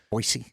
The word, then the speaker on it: Boise: Boise.